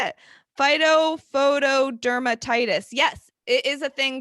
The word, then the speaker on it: Phytophotodermatitis: Phytophotodermatitis. Yes, it is a thing, guys. That is the name of it. Phytophotodermatitis.